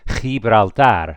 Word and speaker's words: Gibraltar: guttural down here in the throat, you can pronounce it a little bit thicker. Gibraltar.